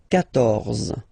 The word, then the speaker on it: quatorze: So remember, Q and U here, well, basically you get to put this U vowel, because that's the rule in French, even if you don't pronounce it. Okay, so you will get the sound K here.